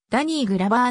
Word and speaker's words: ダニー・グローヴァー: ダニーグローヴァーはアメリカ合衆国の俳優カリフォルニア州サンフランシスコ出身身長 192cm 名前の発音はダニーグラバーの方が原音に近いサンフランシスコ州立大学